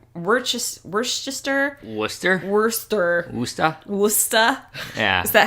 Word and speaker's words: Worcester: the way in we're just we're sister Worcester Wurster Moustafa gusta yes that how they say it's Worcester we went to Westchester and sure it's Worcester Wurster Massachusetts so anyways we just lost about like